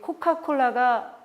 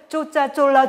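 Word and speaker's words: Coca-Cola: 그래서 이렇게 배워간 사람이 거기 코카콜라가 알잖아요. COC. 그래서 그걸 뭐라고 했냐면 쪼짜 쫄라 주세요. 라고 했대요. 하지만 외래어는 외래어 발음 그대로 쓰는 거예요.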